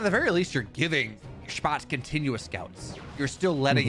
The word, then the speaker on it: Spatz: And How did you figure out that's how you say it? I'm going off Steadfast there. That's how Steadfast says it, and I think it sounds good. Okay. So. That sounds pretty cool.